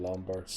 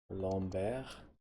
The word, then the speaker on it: Lombard: to play him in Lombard dead lomber he should be pronounced since he's French and then everybody else